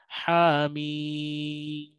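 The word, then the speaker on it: حم: Nah, berikut panduan membacanya: haim bukan ha mi salah. Jadi, ha mim mim itu panjang, oke.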